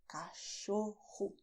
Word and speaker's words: cachorro: "CACHORRO". And here hou have the sound of CH, as in "show" in English. You can also say "CÃO".